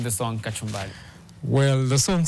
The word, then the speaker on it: Kachumbali: Now, going into Kachumbali, which has been, so you spell it with an L-I, like it's, for Kenyans, it's Kachumbari, like the salad that guys always have in Kenya.